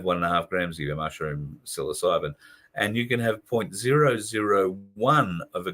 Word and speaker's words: psilocybin: Psilocybin, 1.5 grams of psilocybin. I've heard of most drugs. The only reason I can pronounce that one is because it's popped up